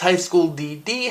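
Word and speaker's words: High School DxD: I just wanted to acknowledge that yes, I know it's pronounced DD, but I like to pronounce it with the X.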